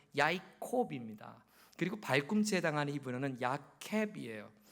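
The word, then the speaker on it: יַעֲקֹב: 히브리어로 야곱의 발음은 야이콥입니다.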